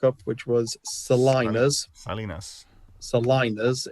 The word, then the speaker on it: salinas: Salinas is how I've been told it's pronounced, which is in the Caribbean or South America, a salt pan, lake, or marsh.